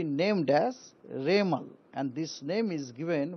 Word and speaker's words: Remal: बनने का बाद उनको नाम होगा रेमल रेमल प्रसन होगा रेमल उसका स्पेलिंग है आर ई एम ए एल रेमल यह नाम एक्चुअली वमन